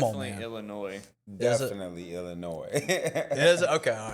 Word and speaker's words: Illinois: Definitely Illinois.